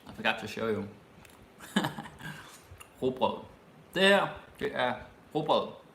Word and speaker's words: rugbrød: I know that's a hard word to pronounce. Rugbrød. Ikke rugbrød. It's actually hard to say when you're chewing. Brød. Okay? Just imagine something that's like rocket. Like R-U-G. Rugbrød.